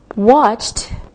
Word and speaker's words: watched: Watched, watched with the T sound.